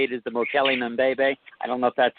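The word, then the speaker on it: Mokele-mbembe: I guess how you say it is the Mokele Mbebe. I don't know if that's a correct. I'll do it for you. Mokele Mbebe.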